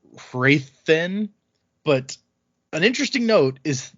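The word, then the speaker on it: Hrathen: unquote correct so uh i'm gonna say rowden because that's how i say it in my head and wrathen even though technically it's rayodin and raythen but an interesting note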